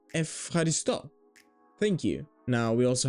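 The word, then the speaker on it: ευχαριστώ: And this is the same for epsilon and epsilon. Ev, F. Like euro, euro. And Efcharisto.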